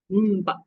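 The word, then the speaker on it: म्प: How do we pronounce this? Little difficult, huh? Mpa. Like pampa.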